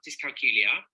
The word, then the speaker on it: dyscalculia: Okay, so I have dyscalculia, which rhymes with Julia, and I was diagnosed when I was 10.